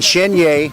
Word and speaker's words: Chenier: By the way, thank you for saying Chenier. Now I realize that I was saying his name wrong when, sadly, your son